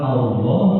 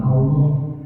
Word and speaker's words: Allah: lihat pelajaran berikutnya pelajaran ke13 adalah bacaan lafaz Allah atau Allahumma nah hati-hati pengucapan Allah jangan menggunakan pengucapan yang orang Sunda